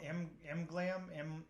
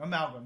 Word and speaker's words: Amalgam: Amglam? Amaglam? Oh, Amalgam. Why do I always want to say it wrong? Why do I always want to say it like completely wrong? Amalgam, yeah, sorry.